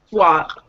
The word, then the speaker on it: swap: Swap. It's an ah sound.